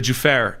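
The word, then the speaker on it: Juffair: We're getting confirmation that is the uh Juare area of Bahrain. The uh Ju FF AI R for pronunciation, sorry. The Jair area of Bahrain that that apartment building was struck by an Iranian suicide drone.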